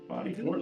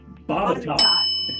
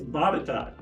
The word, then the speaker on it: Botetourt: Botetourt, like tennis court or something like that? Who pronounce that? Yep. The actual pronunciation for this is Botetourt. So like tater tot, okay? But it's Botetourt, okay?